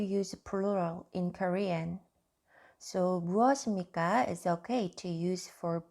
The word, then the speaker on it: 무엇입니까: If I pronounce each letter, it sounds 무엇 입니까? 무엇 입니까? But we don't say like this. We say this 무엇입니까?